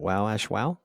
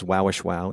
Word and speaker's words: Wowashwow: Is it Wowashwow? Yeah, you said it perfectly.